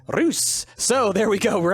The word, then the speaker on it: Reus: some more rays or as my Dutch fans have told me it's actually pronounced ruse so there we go we're actually playing a game called ruse or if it's German then it's Royce but either way it's